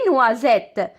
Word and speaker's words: noisette: دي نوازيت، نوازيت كما كتشوفوا اس جات ما بين دو فويال، جات ما بين اي و او وكنطق زد.